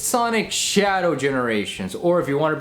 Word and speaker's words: Sonic X Shadow Generations: Also, it's Sonic Shadow Generations, or if you want to be a little more technical, Sonic and Shadow Generations. Not Sonic X Shadow Gen. You don't pronounce the X in the name, alright?